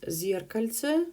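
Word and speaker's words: физкультура: the next word is Z our culture with the stress on the first syllable zere Cal say Z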